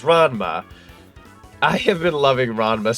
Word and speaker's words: Ranma: I don't know how exactly you pronounce it, but I think it's it's it's Ronma. It's Rama, I think half or one over two or RMA half or however you pronounce. It's Ranma.